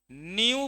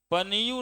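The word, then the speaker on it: nu: न्यू बोलिएगा, पनियू नहीं बोलिएगा, पी साइलेंट है ना, न्यू।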